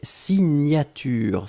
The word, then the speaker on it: signature: Deuxième chose, un substantif et c'est signature. Souvenez-vous, le GN, la prononciation, c'est gne, gne, gne, gne, gne. Signature.